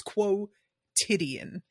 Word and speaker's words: quotidian: already saying it wrong Quan is not the word it's quotidian quotidian yeah that's good I don't